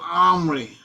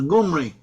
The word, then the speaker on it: Omri: The Omri in Hebrew is pronounced as Omri, or maybe they may have even had a G in there. Some, according to some authorities, it was already pronounced by the Hebrews, or some of the Hebrews as Gumri.